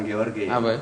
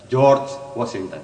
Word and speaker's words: George Washington: Bukan Georgi. Bacanya jangan letar lagi. George Washington.